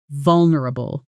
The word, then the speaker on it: vulnerable: This word has a tricky middle section where a lot of learners either add an extra syllable or lose the N. sound entirely.